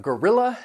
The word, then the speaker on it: guerrilla: Then we have guerrilla and guerrilla. These words have 3 syllables. That first and third syllable, you'll hear that schwa sound, and the stress is on the second syllable.